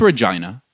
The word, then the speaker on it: Regina: But unfortunately, we're not going to do freaking Nunavut and Whitehorse and every Regina or Vagina, whatever fucking place. It's Regina. It's a city that rhymes with fun.